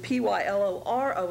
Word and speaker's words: pyloro: p y l o is pronounced pylo and p y l o r o is pronounced pyloro and they both uh stand for